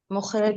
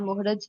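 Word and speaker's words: مخرج: अच्छा, मुखरज सनाया नंबर ओलिया या सनाया उलिया या सनाया अलिया, क्या एग्जैक्ट प्रोनाउंसिएशन है? दूसरे लोग बताएं। सनाया उलिया। उलिया सनाए उलिया उलिया। और मखरज, सनाए उलिया मखरिज नहीं, मखरज।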